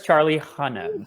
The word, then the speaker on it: Charlie Hunnam: And I'm pretty sure it's Charlie Hunnam. Scott bringing the facts. I just want to be so extra with my pronunciations today.